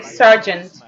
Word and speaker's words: Sergeant: Le nom est prononcé Sergeant, comme le policier.